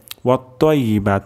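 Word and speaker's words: والطيبات: এখানে কিন্তু ওয়াত-তাইয়্যিবাত, তাইয়্যিবাত তাহলে কিন্তু তা হয়ে যাবে ওয়াত-তাইয়্যিবাত। আমাদের এখানে ত উচ্চারণ করতে হবে এবং তর উচ্চারণটি মোটা হবে।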